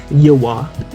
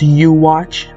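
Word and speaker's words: Yhwach: i am talking about the quincy warrior himself yawa or walk or you walk what the how do you pronounce this all right i just checked it out uh it's pronounced you watch which makes sense because of how almighty works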